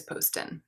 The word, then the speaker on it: Poston: it, but I don't really care if people mispronounce it, but it is Poston, in case anyone's been wondering.